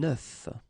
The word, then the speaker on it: œuf: And the tricky thing when we're talking about eggs is that if you listen carefully, the pronunciation is changing quite much, because for the singular form it's œuf, but then for the plural form here it's okay? Des œufs.